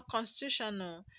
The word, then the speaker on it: constitutional: Now, constitutional. When you have a word that ends with AL, the stress is going to be on the third syllable from the end.